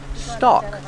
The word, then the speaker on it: stalk: stalk of corn remember with stock the L is silent stock this is a corn